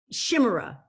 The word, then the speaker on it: Chimera: like a half, I don't know how to pronounce, I should have looked it up, but like a miniature, a chimera.